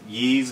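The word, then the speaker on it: Ys: Picked up a copy of Yee's Memories of Celceta. That should be the right pronunciation.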